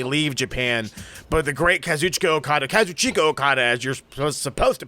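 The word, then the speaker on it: Kazuchika Okada: We never thought he would actually leave Japan, but the great Kazuchicka Okada, as you're supposed to pronounce it, is officially leaving Japan as of January 31st, which is 11 days from now.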